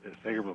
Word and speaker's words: Segerblom: Segerblom, that's correct. I'm still questioning that pronunciation.